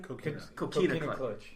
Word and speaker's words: Coquina Clutch: Coquina Clutch.